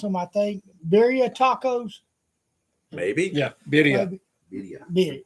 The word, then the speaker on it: birria: I can cook them, but I don't know how to pronounce them. I think Birria tacos.